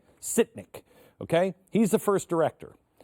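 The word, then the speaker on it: Sytnyk: Sitnik.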